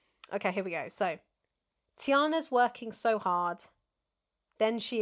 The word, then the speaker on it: Tiana: Tiana and restaurant are all three syllables.